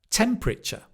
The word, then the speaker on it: temperature: Temp, richer. Temperature. That is how you can remember how to pronounce it. Literature, temperature.